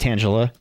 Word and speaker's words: Tangela: We have a Tangela. And yes, it's pronounced Tangela.